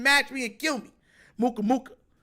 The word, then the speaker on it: Muka Muka: Not Mook Mook. Muka Muka. M-U-K-A-M-U-K-A. Muka Muka. You gotta say it like that too.